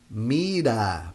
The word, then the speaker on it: mira: syllables it sounds so here is not in the beginning of the word so we say mira mira but here it sounds here it would sound ra only if we have Double R Mira but the the vowel